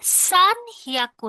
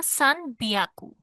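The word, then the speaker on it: さんびゃく: সান হিয়াকু না, সান বিয়াকু। হ্যাঁ বিয়াকু, হিয়াকু না, বিয়াকু।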